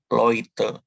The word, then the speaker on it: Leute: Kemudian di sini ada EU. EU tadi dibaca OI. Jadi Leute. Kemudian TIS.